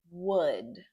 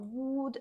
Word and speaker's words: would: Would. Can you say that? Would. Okay? Be careful. It's not wood. And that L is quiet. It's would.